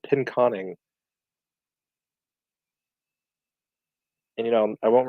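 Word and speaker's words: Pinconning: pronunciation demon donad said pin as in pin the tail on the donkey con as in xcon and in so pin conning and you know I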